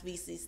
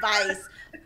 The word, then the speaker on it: VC: I could not say her name because it spelled like Vice, and it kept tricking my brain. My brain kept wanting to say Vice. But it's just like, no, it's VC.